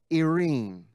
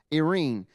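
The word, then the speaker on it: eirene: but it's spelled E-I-R-E-N-E, almost like the word serene, but without the S, irene, irene.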